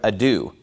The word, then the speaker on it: ado: that he doesn't know how to pronounce the word ado he pronounces it a doe well obviously if you